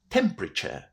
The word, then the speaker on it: temperature: will remember, hopefully, that those last four letters, T-U-R-E, are pronounced in a practically identical way, to the word chair.